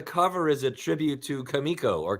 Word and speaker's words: Comico: love that the cover is a tribute to kamiko or Comico is the proper pronunciation I was always wondering yes kamiko okay that's great that's great that's got a